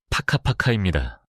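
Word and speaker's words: whakapapa: 족보를 뜻하는 마오리어 와카파파를 예로 들어볼까요? 발음은 파카파카입니다.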